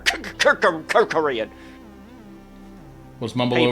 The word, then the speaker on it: Kerkorian: Kerkorian. Kerkorian. You Okay. just say his name really fast, and it's I like just, it sounds like a stutter. Kerkorian.